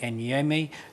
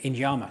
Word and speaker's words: Inyama: here as our guest, Chinyere Enyeme, Inyama, sorry, I pronounced your name wrong, Chinyere, who's a senior coroner from West London.